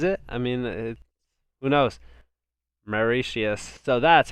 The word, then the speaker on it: Mauritius: Mauritius. So that's how you pronounce it.